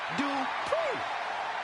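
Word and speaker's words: Dupri: Uh, Michael, it's pronounced Dri.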